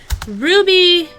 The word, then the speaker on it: RWBY: did complete the series Ruby is by Rooster Teeth uh you can watch it on their website it is spelled weird uh you spell RWBY and it's about um